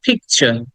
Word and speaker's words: picture: ওই যে কিছুক্ষণ আগে আমরা পড়েছি, টি এর পরে যখন ইউ থাকে তখন সেটাকে আমরা চয়ের মতো উচ্চারণ করি, আমরা কিন্তু ট উচ্চারণ করি না। একই রকম, এই কারণেই আমরা বলবো পিকচার।